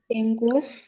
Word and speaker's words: ডেঙ্গু: ঠিক আছে, এটারে অনেকেই বলে ডেঙ্গু, আসলে এটার উচ্চারণ হচ্ছে কি জানো? এটার উচ্চারণ কি? ডেঙ্গি। ডেঙ্গু। ডেঙ্গি।